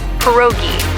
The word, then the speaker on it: pierogi: Pierogi? Did I pronounce that right? It's pronounced pierogi, a tasty dish like dumplings.